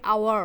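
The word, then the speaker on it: hour: my dear consonant তাই না consonant কিন্তু এর প্রোনাউন্সিয়েশন টা কি হচ্ছে আওয়ার আমরা কিন্তু হাওয়ার বলছি না আমরা কিন্তু অনেস্ট বলছি না আমরা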